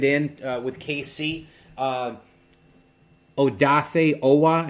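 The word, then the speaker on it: Odafe Oweh: uh with kc uh oh dafe owa i think is how you pronounce that with penn state outside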